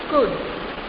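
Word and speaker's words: could: K-U-D food, but here spelling is C-O-U-L-D. L is silent here, okay? So you pronounce as good.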